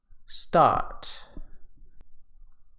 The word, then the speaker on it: start: Now this is different in British English because the R is usually silent after vowels. So in this case, it would be pronounced ka, start.